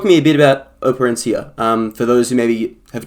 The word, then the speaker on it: Operencia: Is that how you say it? Operencia? Is that the right? It's actually Operencia.